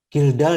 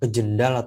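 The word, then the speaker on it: Kjeldahl: offline menggunakan metode kildall jadi tulisannya kecil dahl Tapi bacanya kildall Ya bukan kjedahl atau apa bukan tapi kilda metode kildall ini termasuk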